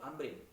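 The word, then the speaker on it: عمرو: Nah, kalau ini dibaca Abu Amrin karena setelah ro ada wawu. Nah, kalau tidak ada wawu maka kemudian itu dibacanya Umar, seperti kayak tadi Abu Hafsin Umar bin Abdul Majid Al-Mayanaji.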